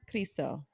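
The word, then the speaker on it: Cristo: just the language Redeemer chisto chisto that's how they pronounce it was just the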